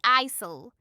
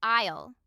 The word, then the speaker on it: aisle: So it's pronounced just like the word isle or mile and smile. Exactly. So don't say isol. It's just isle.